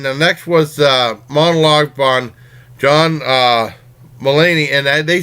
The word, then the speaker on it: Mulaney: This one is John Mulaney, that's how you pronounce his name, hosting Saturday Night Live.